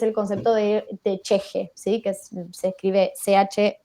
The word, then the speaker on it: ch'ixi: texto que es el concepto de de de cheje sí que se escribe ch apóstrofe y latina x y latina